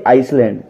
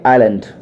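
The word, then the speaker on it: island: silent माना जाता है अब देखिए पहली spelling I एस एल ए एन दी हम क्या बोलते हैं जनरली आइसलैंड दोस्तों आइसलैंड नहीं होगा क्योंकि यहां पर आयु के बीच में ऐसे तो पढ़ेंगे आइलैंड क्या पढ़ेंगे बोलिए आइलैंड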